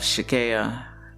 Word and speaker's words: Tchicaya: call it kaya so for people that can't pronounce her name because it's a silent t and they always want to pronounce that t so kayla maria is